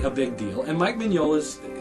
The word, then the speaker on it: Mignola: Now, I know some of you are thinking, wait a minute, that says Mignola. No, it's not Mignola, it's Mignola. And I don't know why you pronounce it that way, that's just the way it's pronounced.